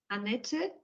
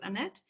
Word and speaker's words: Annett: start to introduce myself my name is anet so this is the German pronunciation in English it's Annette um I'm an electronics